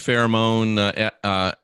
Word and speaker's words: pheromone: And there's probably a huge pheromone part to it, I would imagine as well.